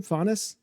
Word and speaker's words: Faunus: Faunus, is that how you pronounce the last name? Faunus? Yeah, Murloc Faunus. Like a faun.